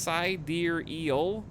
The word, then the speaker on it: sidereal: you just call me by the way it's pronounced psy dear eel what sidereal well use well you